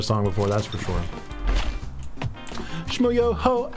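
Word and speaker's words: Schmoyoho: Shmoyoho, accent on the O.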